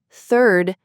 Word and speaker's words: third: Third has that TH sound, while turd does not.